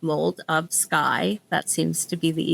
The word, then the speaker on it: Moldofsky: under my name um my last name is spelled like mold of sky.